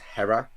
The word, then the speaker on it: H33RA: There's a guy out called Hera, but it's like spelled like H33RA, and he's just released a song that sounds like an old 2000s R&B song, and it's incredible.